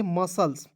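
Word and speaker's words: muscles: क्या पढ़ेंगे मसल्स कैसे एस के तुरंत बाद सी आया तो सी को साइलेंट कीजिए एम यू पढ़ लीजिए एम यू एस मस पढ़ लीजिएगा ठीक है और एस सी एल एस तो सल्स मसल्स पढ़ा जाएगा ठीक है मसल्स नहीं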